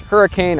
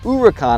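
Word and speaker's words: Huracán: Looks like it should be pronounced Hurricane or Huracan. It's actually pronounced Huracan according to Lamborghini.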